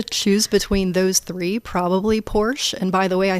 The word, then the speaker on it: Porsche: between those three probably Porsche and by the way I think the correct ger German pronunciation is porsa you have to yeah